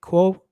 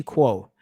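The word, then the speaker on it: Kuo: fact ming chi cool how do you pronounce k-u-o please i want to i want to do that properly quo ming-chi quo recently reported that apple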